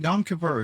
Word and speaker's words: Yom Kippur: No, Yom Kippur is how you pronounce.